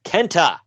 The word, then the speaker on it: KENTA: me you get it you gotta say it like they spell it kenta oh yeah and walter